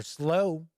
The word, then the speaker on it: Slough: Here's the details about Stories from the Slough, or Slow. I'll say Slough. Sounds a little weirder.